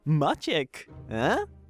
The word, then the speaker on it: Maciek: A is the front low unrounded vowel that is very common in Polish, for instance. It's in my name, Maciek.